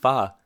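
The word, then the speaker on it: 发: the world for example the number eight pronounced ba is lucky in China because it sounds like wealth pronounced fa we also see myths and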